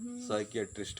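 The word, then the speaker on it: psychiatrist: P silent है यहाँ पर, साइकियाट्रिस्ट कहेंगे।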